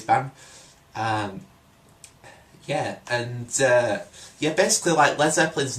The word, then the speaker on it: Led Zeppelin: and dudettes, basically like Americans would so like pronounce it Lead Zeppelin, so it was spelled L-E-A-D. And so like the band sort of had to change their name to LED, Led Zeppelin, so not to confuse the Americans.